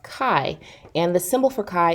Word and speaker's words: chi: you are pronouncing it chai or Qi or shy because that's what it might look like but it's actually the Greek letter pronounced Chi and the symbol for